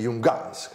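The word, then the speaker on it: Junghans: siccome abbiamo parlato del minimalismo di Jungans, tiriamo fuori anche gli Jungans, con l'accento sulla Hans, come piace tanto a me, l'accento sulla Hans.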